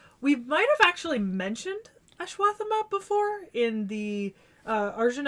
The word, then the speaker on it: Ashwatthama: assman why do you call him assman um ashw thank you or aath depending on how it's anglicized because it's been